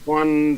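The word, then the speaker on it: Juan: I've only read the name it's pronounced it's spelled like Spanish Wan than honor one Thornhill that's my free safety I wanted to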